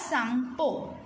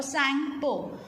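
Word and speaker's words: Tsangpo: T is silent here, so we will read it as Sangpo or Sangpo.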